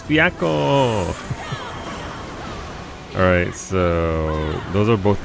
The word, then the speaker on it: Byakko: Yo, no, it's Byakko.